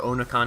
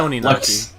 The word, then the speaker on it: Oninaki: were complaining about how hard it was to pronounce. Oh, Oninaki or Onakani? Oh, Oninaki, there we go. Or well, like something like that. It's Oninaki.